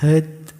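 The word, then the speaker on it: heard: ada quote yang menarik be hur not hur membacanya sama meskipun tulisannya beda jadi bunyinya sama-sama H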